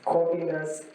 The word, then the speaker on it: Corvinus: Budapesti Corvinus Egyetem. Yeah, you can realize that in Hungarian, we do not say Corvinus. They pronounce every syllable. So we say Corvinus.